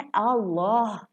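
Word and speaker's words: الله: क्या है तजवीद का कि अगर अल्लाह के लफ्ज़ से पहले ज़बर या पेश आ जाए तो ये अल्लाह का लाम मोटा प्रोनाउंस किया जाता है।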